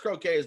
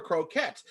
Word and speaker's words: croquettes: You know, they thought they were pronounced croquets, but they were croquettes.